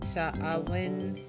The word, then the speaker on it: Samhain: Samhain is how it's pronounced.